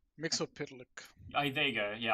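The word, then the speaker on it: Mxyzptlk: Uh, I think it's like Mixel Split or something. Okay. Mixel pit.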